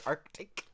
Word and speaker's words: Arctic: arctic that's not arctic you have to pronounce both k's arctic there's no caves in it there's seas i know i'm talking